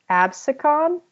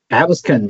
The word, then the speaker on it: Absecon: study from a reimbursable study, I believe, in Absecon Inlet. What is it? Can someone tell me how this is pronounced? Absecon, you're right. Absecon.